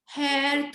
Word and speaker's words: hair: आप सोचेंगे कि मैम क्या बोल रही है, बट आर लगभग साइलेंट होता है ब्रिटिश इंग्लिश में, तो आप इसको ऐसे ही बोल सकते हैं, hair, थोड़ा सा र भी बोल सकते हैं अगर आपका मन हो तो.